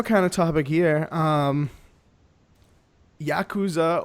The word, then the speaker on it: Yakuza: Yakuza or Yakuza, as I've heard it pronounced.